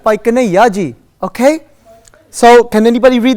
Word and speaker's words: Bhai Kanhaiya Ji: excellent who said that that's the right way to pronounce it say again what excellent by kane yaji okay so can anybody